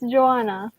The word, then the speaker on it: Joanna: I mean, is it Jonah Yes, or yes. Juana or like it's It's Joanna.